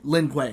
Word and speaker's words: Lin Kuei: I always say it wrong, is it the Lin Kuei? Lin Kuei.